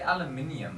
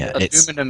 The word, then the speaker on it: aluminium: We say aluminium, eh? Yes. Yep. Aluminium as is fine. we do, yeah. And aluminum is wrong. Aluminum is what the Americans say. That's what Americans say, yes. Technically, both are right.